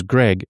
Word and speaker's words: Greg: So, because my name's Greg with a hard G, they call me Dreg, and they spell it with the J.